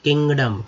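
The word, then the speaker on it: kingdom: अब किंगडम, किंग हो गया, ING किंग हो गया, ING जो जोड़ा के में तो किंग हो गया। DOM से डॉम नहीं डम पढ़ेंगे, डम, DOM से क्या पढ़ेंगे, डम, किंगडम यानी राज्य, साम्राज्य।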